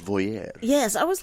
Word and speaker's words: voyeur: Let me pronounce it like the French voyeur.